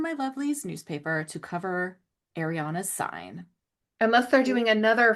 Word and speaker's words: Ariana: Is it Ariana or Ariana? It's Ariana, right? Harry. Does it Yeah, it matter? rhymes with Harry. It's Ari. Ariana.